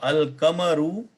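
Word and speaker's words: القمر: So al-kamaru ash-shamsu. So in the Shamsi, I did not pronounce the al. In the Kamari one, I pronounced the al, right?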